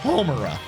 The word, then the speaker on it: Homura: to pronounce everything else, you assholes are gonna pronounce her name correctly, and it's Homura.